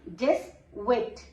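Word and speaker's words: dix-huit: What becomes 18? Dis-wit. Because H is silent.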